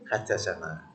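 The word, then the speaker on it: حدثنا: Nah ini diambil singkatan dari haddatsana. Nah itu harus dibacanya haddatsana.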